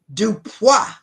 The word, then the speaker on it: DuPois: Dupa.